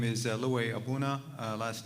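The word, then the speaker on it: Aboona: record yeah good evening my name is Louis abuna last name is spelled a-b-o-o-n-a I'm a principal with KL away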